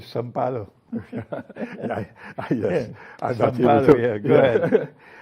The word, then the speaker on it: São Paulo: It's interesting that you pronounce it as Sao Paulo, because they don't do that in Brazil. They call it São Paulo.